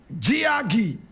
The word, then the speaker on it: Jiagge: Now, today we talking about the woman whose photograph you see right here, Annie Ruth Gagi. Annie is spelled A N I E R S R